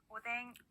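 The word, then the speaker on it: おでん: 오뎅. 네, 좋습니다. 이렇게 이 행들 앞에 왔을 때는요, 니은과 이응의 중간 발음으로 소리가 납니다.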